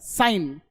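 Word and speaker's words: sign: क्या बोलते हो, साइन, तो यहां पे G साइलेंट हो गया, N बोला जाता है, साइन।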